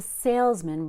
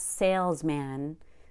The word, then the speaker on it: salesman: it's very interesting how the word man gets reduced to Mun because it's a compound noun and we focus on sales not man so it's not sales man its salesman and - very low-energy